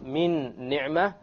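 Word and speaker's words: مِنْ نِعْمَةٍ: You drop this end sound, you take this meme and you associate it or you merge it with that noon and you add a ghunnah.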